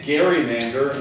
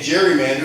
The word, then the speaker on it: Gerrymander: with salamander to get Gerrymander, and people not knowing his last name started to pronounce it with a hard G, and it became Gerrymander, and that's how it's been for the last 200 years.